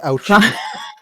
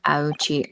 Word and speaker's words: Auchi: It's pronounced ouchi cuz his descendants later on have the name uh Winston Payne and Gaspin Pain. That's so funny. I love the pain. Yeah. Auchi.